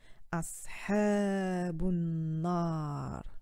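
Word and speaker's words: أصحاب النار: Et ça aussi, ça fait partie d'une règle que lorsqu'on s'arrête à une pause, la dernière harakat n'est pas prononcée. Donc c'est comme si on effaçait la petite kasra et ça donnerait ashabun nar.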